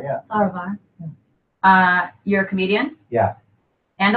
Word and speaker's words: Farahvar: Is that pronounced correctly? Farahvar, yeah. Farahvar.